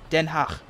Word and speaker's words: Den Haag: And actually, I actually noticed that the Haag, or Den Haag, I keep feeling like I'm saying that with too much phlegm at the end. Den Haag.